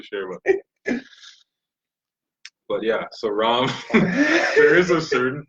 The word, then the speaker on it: Ram: But yeah, so Ram, there is a certain pronunciation, and Ramo is not there. It's not how it looks.